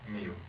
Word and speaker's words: Miu: M I U. How do you spell or how do you pronounce that? Mu.